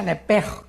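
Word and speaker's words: נפש: Se pronuncia nepej, porque la CH en hebreo es j, nepej.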